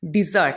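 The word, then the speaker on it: desert: Similarly डिज़र्ट. अच्छा, यहाँ पे दोनों की प्रोनाउंसिएशन में फ़र्क है. एक है डिज़र्ट और एक है डेजर्ट.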